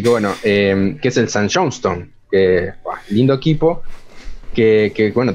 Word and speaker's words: St. Johnstone: Que se lo dije mal, ¿querés pronunciarlo vos? No, creo que a ver cómo sería. ¿Cómo es? St. Johnstone. Es que suena St. igual. Johnstone, ahí está, perfecto. Claro, pero suena igual, pero no se escribe como en el nombre.